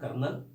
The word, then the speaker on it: colonel: कर्नल के से नहीं होगा, वो COLONEL, कर्नल। इसको कर्नल बोलते हैं एक्चुअली।